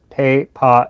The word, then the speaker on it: Pei Pa: it's uh um so it's pay pa and then go goes up uh mandarin is very